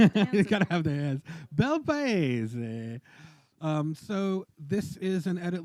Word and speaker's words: Bel Paese: I'm sure, but I'm gonna guess it's Bel Pace or Bel Paese. But you're Italian, Mike. Bel Paese, right? There you go. That's it. With the hands. You gotta have the hands. Bel Paese.